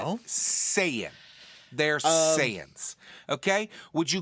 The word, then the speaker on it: Saiyan: Saiyan. They're Saiyans. Okay? Would you call Wookiees Wookiees? It's not hard to figure out how to pronounce fictional names. It's Saiyan.